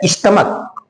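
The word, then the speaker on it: stomach: है उदाहरण में देखि जैसे लिखा गया स्टमक क्या लिखा गया है स्टमक यहां पर ये सीच का का उच्चारण दे रहा है इसीलिए इसका प्लूरल हम यस जोड़ कर के बना देंगे दूसरा उदाहरण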